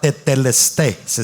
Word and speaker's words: tetelestai: Jesús dice consumado es es la palabra teteles se es se pronuncia aunque se escribe tetelestai ya se la voy